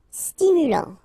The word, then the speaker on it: stimulant: Stimulant, final T not pronounced, stimulant, stimulant.